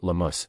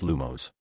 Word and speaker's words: Lumos: If you mutter lumus or lamus, you'll get nothing but sparks and shame. A few students chuckled nervously. The incantation is lumos.